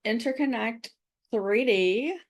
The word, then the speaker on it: Interconnect 3D: I I built a a I built an app called Interconnect 3D. You're supposed to say it like interconnected.